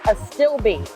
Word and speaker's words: Astilbe: Okay, it's Astilbe. Astilbe. Astilbe.